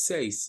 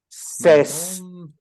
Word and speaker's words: says: No es seis. Es Says. Says. My mom says. Correct. Es el sonido de la tercera persona de la palabra say.